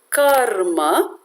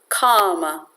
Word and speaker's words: karma: So in most cases, the R tends to be ignored. And instead of karma, which means action, a common pronunciation is kama, which basically means kama, desires.